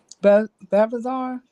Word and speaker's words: Belshazzar: In verse 2 of chapter 5, the Belshazzar, that's how you pronounce his name.